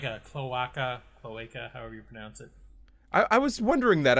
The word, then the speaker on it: cloaca: of what the internet Thanks here's how it's pronounced according to the Internet okay cloaca all right so now you know that's how